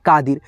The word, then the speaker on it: कादिर: पे दोस्तों शब्दों को जैसे मान लीजिए मेरा नाम है कादिर तो इसमें उच्चारण धीरा होता है तो हम आई लगाते हैं के ए डी आई आर अगर दोस्तों मान लीजिए